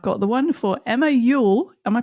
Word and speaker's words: Youell: This week, I've got the one for Emma Ule. Am I pronouncing that right, Emma?